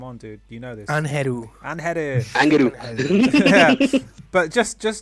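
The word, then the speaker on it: Ángel: If you can use the actual Mexican pronunciation. That's Angel. Anheru. Yeah, because I have seen even people here in Chile saying Angel, Angel, Angel. Not, she's Mexican, right? Yeah. It's Angel. It's Anheru.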